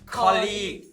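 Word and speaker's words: colleague: It's 'koll-leeg'! A lot of people just say 'klik'.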